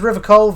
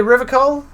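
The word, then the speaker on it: Revachol: feet rhetoric easy success he pronounces River coal hard K unlike most people you say River coal that's funny that's how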